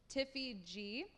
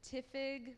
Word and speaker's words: Tiffy G: going to call it Tiffy G. But everyone would always pronounce it Tiffig or Typhi G. So people didn't pronounce it how I wanted it to, so I just had to create something new.